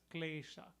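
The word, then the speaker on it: क्लेश: Kalesa Bikar. Kalesa, in Sanskrit we would pronounce it as klesha.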